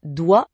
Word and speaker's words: doigt: Genre pourquoi on écrit doigt avec un G et un T qu'on ne prononce pas ?